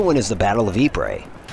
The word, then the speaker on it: Ypres: Another one is the Battle of Ypres. It's not Ypres at all. It's Ypres, but it's spelled Y-P-R-E-S.